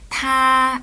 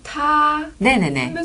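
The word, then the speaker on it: 他: 여기서 타는 그녀를 뜻하고요 타 이렇게 높게 발음해 주시면 돼요 타 그 를 워로 바꾸면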